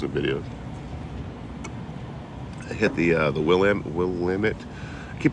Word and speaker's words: Willamette: I hit the Willamette. I keep pronouncing this wrong.